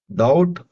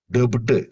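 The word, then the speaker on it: doubt: டவுட் dead இதுல வந்து பி சைலண்டா இருக்கும் டவுட் டபுட் இப்படி சொல்லக்கூடாது.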